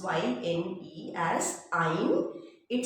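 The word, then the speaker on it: yne: This is pronounced as ein, means sounds like vowel. We pronounce Y-N-E as ein.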